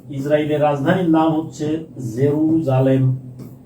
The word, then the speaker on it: জেরুজালেম: ইসরাইলের রাজধানীর নাম হচ্ছে জেরুজালেম। উচ্চারণটা হল জেরু জেরুসালেম। ঠিক আছে? জেরু সালেম।